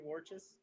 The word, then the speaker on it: Warchus: on please just say i'm here with matthew warchus that's what i needed okay i've been saying